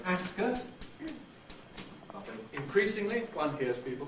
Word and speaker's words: Ascot: are like this this name is traditionally called Ascot increasingly one hears people pronouncing it Ascot with a strong vow in the second syllable